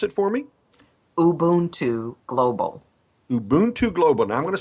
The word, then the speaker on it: Ubuntu: website now first I want you Lenor to pronounce it for me ubon Global Ubuntu Global now I'm going to spell it because